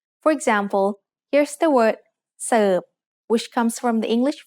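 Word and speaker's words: เสิร์ฟ: The letter R in the English word serve doesn't get pronounced in Thai, so we write รอเรือ with Garan above it, just to indicate what the original spelling was.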